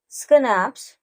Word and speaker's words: schnapps: So I was pronouncing it as schnapps, but it is actually schnapps.